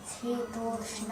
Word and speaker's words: शीतोष्ण: आगमनी में मात्रा स्पर्शस्तु कौन्तेय शीतोष्ण।